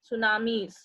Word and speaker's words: tsunamis: And these tall, huge waves are called tsunamis. Here the T is silent. Tsunamis.